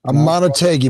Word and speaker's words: Amunategui: I'm the host, and we have Amunategui. Is that pronounced correctly? Amunategui, but close enough.